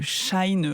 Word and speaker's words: Chine: On en a beaucoup parlé, marque Chine, marque Shine, on sait même plus comment le prononcer. Je crois que c'est Chine la bonne prononciation.